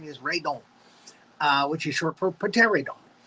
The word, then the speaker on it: Radon: We are doing Radon, or Rodan, as he's known in America. But again, the original pronunciation, the real pronunciation is Radon, which is short for pterodon.